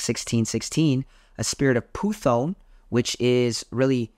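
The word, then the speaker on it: Πύθων: 16 a spirit of puthon which is really it's python but it's pronounced puthon in Greek and we it's just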